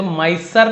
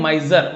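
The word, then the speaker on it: miser: था बहुत कंजूस था माइसर नहीं पढ़ेंगे माइजर माइजर कंजूस ही सस्पेक्टेड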